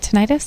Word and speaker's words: tinnitus: Is that how you say it, tinnitus?